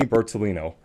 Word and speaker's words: Bertolino: Giovanni Okay, I'm Bertolino. Italian, so I always try to take pride in my pronunciation.